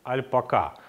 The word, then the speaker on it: альпака: основном на сегодняшний день правильно говорить альпак альпака Но если я ошибусь не судите меня строго поскольку не очень легко ложиться на язык это ударение Итак Что же это